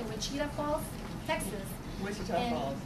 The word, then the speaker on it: Wichita Falls: Wichita Falls. Wichita Falls.